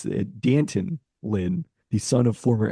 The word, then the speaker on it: Danton: I have oh it's Danton Lynn the son of former NFL head coach Anthony Lynn who chose this name to rhyme with Canton it's Danton rhymes with Canton uh 35th in FBI